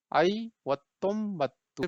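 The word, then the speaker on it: ಐವತ್ತೊಂಬತ್ತು: आई वत्तुम बत्तु पढ़ेंगे, ये देखिए थोड़ा सा ये इसका स्पेलिंग थोड़ा लॉन्ग है, लेकिन इट्स नॉट डिफिकल्ट।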